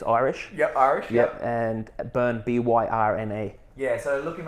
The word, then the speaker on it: Byrne: So Byrne, I'll get you to spell that out. It's Irish. Irish. And Byrne, Byrne.